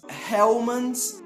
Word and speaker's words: Hellmann's: mas mesmo assim em nomes de algumas marcas estrangeiras nós pronunciamos a letra h mais ou menos da mesma forma que ele é pronunciado no idioma original daquela marca por exemplo nós temos